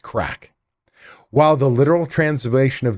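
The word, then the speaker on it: craic: be best described with a Gaelic word that is spelled c-r-a-i-c pronounced crack while the literal translation of the word means fun in Irish culture crack means lively conversation and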